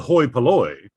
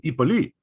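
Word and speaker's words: hoi polloi: common feature so like what used to be called pronounced the hoi paloy is in modern greek pronounced the ipoli okay now this is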